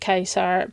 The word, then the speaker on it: Caesar: come and speak to Caesar or Kaiser um he pronounces it Kaiser but um if you